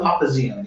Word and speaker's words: Papazian: Papazian, yeah. How do you spell it?